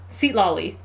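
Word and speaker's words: Citlali: steal her her money if you want to pronounce it super right it's seat seat LLY seat LLY okay that makes sense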